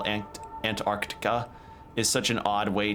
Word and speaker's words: Antarctica: whenever you say Antarctica, most people don't really pronounce the T in there. or no, not the T, the the C between the R and the T there because it's just such